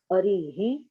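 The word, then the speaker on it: अरिः: So therefore you have to say, pronounce properly. Harihi, Hari, Harihi. That makes a difference. Arihi, See, you have to listen, Parul, you are not listening.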